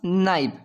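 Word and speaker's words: knife: चाकू को क्या बोलेंगे हम नाइव इसमें के साइलेंट रहेगा और नाइफ से मीनिंग शुरू होगी बोलने में और लिखने में हमारी के एन आई एफ ई नाइफ नाइफ mean चाकू इस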